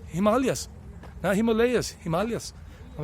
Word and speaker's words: Himalayas: of the himalayas but the himalayas as the indians taught me how to say it the people of india himalayas he would say dost